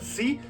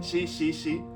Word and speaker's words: し: Los japoneses no pueden pronunciar si, dicen shi, shi, shi.